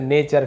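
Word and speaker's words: nature: लिटरेचर टी यू आर ई को हम चर पढ़ते हैं जैसे नेचर फ्यूचर तो चर है ना लिटरेचर यानी साहित्य मैनेजमेंट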